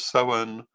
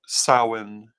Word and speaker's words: Samhain: The Celtic pronunciation is Soen or Samhain or Samhain.